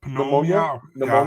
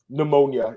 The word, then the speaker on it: pneumonia: do you say that pom ponia yeah that's not good I don't think that's good yeah how did you say that again pneumonia I think the p is silent right it's weird English is